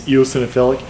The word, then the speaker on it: eosinophilic: there's a little girl in Yorktown who has eosinophilic disease which literally took me like two years to to pronounce uh it's eosinophilic and she basically cute little girl tough little